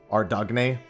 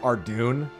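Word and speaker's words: Ardougne: from the stalls in, Ardugny. And I know that's not how it's pronounced, by the way, but that's why I say it that way. Because I know I'll upset people by calling it Ardugny.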